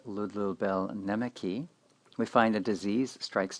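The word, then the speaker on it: Ludlul Bēl Nēmeqi: A Babylonian document known as I Will Praise the Lord of Wisdom Babylonian pronounced Ludlubel Nemeki, we find a disease strikes down a pious man.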